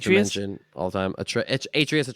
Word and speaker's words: Atreus: Atreus. I think he calls him Atreus. Atreus. That's how you say it. That's why Atreus sounded weird.